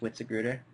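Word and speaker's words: Witzigreuter: It's pronounced Witziger.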